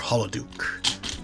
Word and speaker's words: Holoduke: Or Holoduke. Pronounced like holodeck.